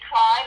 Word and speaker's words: Cline: Instagram is Cline, and that's spelled C-L-I-N-E, like Patsy Cline, Cline.